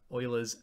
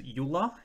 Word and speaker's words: Euler: a new number today's lesson is uh on euler's number so a lot of people want to pronounce this name as yula it's actually pronounced euler so he was a